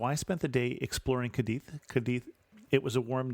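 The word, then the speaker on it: Cádiz: of Barcelona with in kadei or kadis depending on how you want to pronounce it I'm pronouncing where I can with the Spanish pronunciation but kadei is the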